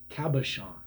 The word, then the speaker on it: cabochon: The names are all over the place, but the proper pronunciation is Cabochon.